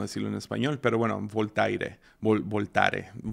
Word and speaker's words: Voltaire: no sé cómo decirlo en español pero bueno voltaire voltaire lo había puesto en Google y